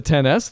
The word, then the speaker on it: XS: ended up with the 10s though if you want to keep that was a decision and a half a 10s no yeah again that's how they say it's not an XS which when the iPhone